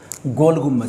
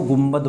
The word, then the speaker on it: गुम्बज: एक मिनट, गोल गुम्बज सही से प्रोनाउंस है ना, कुछ लोग इसको गुम्बद बोलते हैं, देन ये जय आएगा यहाँ पर, गोल गुम्बज।